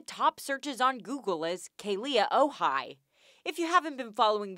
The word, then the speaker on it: Kealia Ohai: Now one of the top searches on Google is Kealia Ohai. If you haven't been following their relationship, let me catch you up. Number one, her name is pronounced Kealia Ohai.